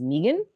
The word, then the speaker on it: Meagan: But then my mother also says that my name is Megan.